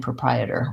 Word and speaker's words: proprietor: the letters P ro we don't have an O sound in proprietor we actually start with the UH sound that's because the stress in this word is on the second syllable Prai and we see